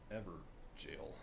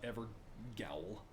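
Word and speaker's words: Evergaol: Forlorn Hound Ever Jail. I know that's how you pronounce it. It's not Ever Gowl.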